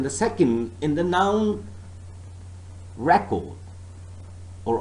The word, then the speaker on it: record: second in the noun record or object so the first syllable is stressed but so far as the verb is concerned remember the second syllable is stressed record object if i say